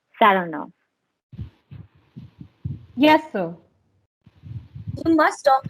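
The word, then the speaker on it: Saranoff: him round this way he pronounces the name with the stress on the second syllable saranov yes so you must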